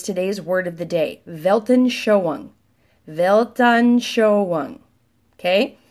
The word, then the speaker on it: Weltanschauung: wel TANF CH au UNG again wel t8n svaha you UNG 14 letters so there you go velton show on and there it is phonetically belt on show on belton showing that's how you pronounce this works all right big